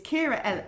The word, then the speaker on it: Ciara: it incorrectly so it's oh it's Kira and it's c-i-a-r-a-e double l i o Double T don't ask which I